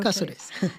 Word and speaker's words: Caceres: Caceres.